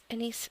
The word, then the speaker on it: anise: And I know it's pronounced anise, but I like to say anise because sometimes I accidentally say the wrong word when I say that. So I'll just say anise.